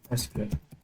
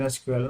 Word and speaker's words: SQL: language was renamed as SQL this is the right pronunciation SQL now SQL is not the correct pronunciation so what language do